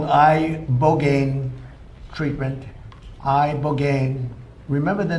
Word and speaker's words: ibogaine: Ibogaine. Remember the name. Is that pronounced relatively properly, would you say? Yes. I don't want to get it wrong. Ibogaine cuz it's so important and experienced an 80